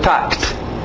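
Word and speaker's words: talked: Passado, tact. Só o T, K com T. Tact.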